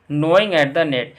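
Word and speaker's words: gnaw: से दबे get started नॉय जिसमें यह जो वर्ड दिख रहा है अब इसमें जी साइलेंट है इसको नोट पड़ते हैं और नो का मतलब होता है ध्यान से उतरना या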